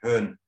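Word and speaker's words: Bön: what that means burn you probably pronounce it burn but it's really pun as far as i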